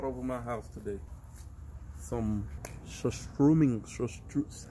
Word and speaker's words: surströmming: Some surströmming surströ- How do you say it?